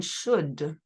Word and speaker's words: should: at should once again we don't pronounce the L in should so I should affirmative